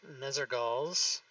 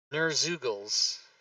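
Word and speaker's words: Nerzugal's: I gotta cut Nezergals. I gotta cut it. Nerzugals is how you say that.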